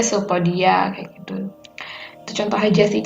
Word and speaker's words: pseudopodia: hai eh Sewu kaki semu pseudopodia itu dibaca sopo dia kayak gitu contoh aja